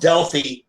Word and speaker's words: Delphi: literally from my hometown he's from Delphi Indiana pronounced del fede anyplace else except in Delphi where it's pronounced dealt by Indiana as how still stands there I don't